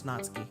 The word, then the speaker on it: Natsuki: Natsuki. Or Natsuki. I'm pretty sure it's Natsuki, because that sounds more Japanese.